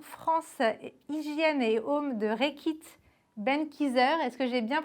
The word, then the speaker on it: Reckitt Benckiser: Bonjour, alors vous êtes directeur marketing France, hygiène et home de Reckitt Benckiser. Est-ce que j'ai bien prononcé?